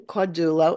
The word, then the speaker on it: Caudullo: I'm with Beacons of Balance, and this is our guest speaker, Simon Caudullo. Is that, am I pronouncing that right?